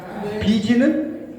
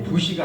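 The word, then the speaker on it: busy: 비지는 비지 땀을 흘리면서 일할 만큼 바쁘다. 비지. 예, 부시가 아니죠. 뭐 이걸 이들한테 부시라고 읽으면 안 돼요.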